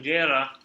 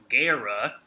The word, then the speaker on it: Guerra: when you have R next to each other in Spanish-speaking countries and language, you have to roll your R. So it sounds like this. It's not guerra, it's guerra.